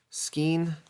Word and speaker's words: Skein: That is skein. How do you say that? Like a, like when you buy some yarn at the craft store, it comes in a skein. Well, she's called Skein. Formerly Gypsy Moth, as she